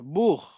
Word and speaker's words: Buch: So CH, I told खा की भी आवाज निकलती है. ठीक है. कब निकलती है? BUCH. बूख. बूख. मायरा, प्रोनाउंसिएशन कीजिए इसका. अभी मैंने एक वर्ड दिया है, लिखा है बूख. Book. बूख. Book. हाँ, लास्ट में खा का साउंड है इसमें.